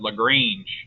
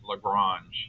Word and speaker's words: Lagrange: I had one professor, I said Lagrange, and he said, it's pronounced Lagrange. He's French.